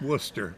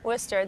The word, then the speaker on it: Worcester: wart sister my worst sister yeah but it's Worcester Worcester that's why my kids call it Worcester sauce